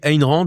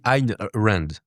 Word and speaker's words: Ayn Rand: Ayn Rand je dis Ayn Rand, mais apparemment, on dit Ayn Rand. Ouais, c'est ça. Voilà. Donc, on le prononce tous mal en France, apparemment, mais c'est pas grave.